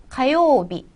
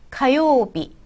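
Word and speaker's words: 火曜日: 자, 그 다음에 화요일은 화 불화자를 카라고 읽습니다. 가요비, 가요비. 네, 수요일에 와서는 조금 발음이 많이 비슷하죠.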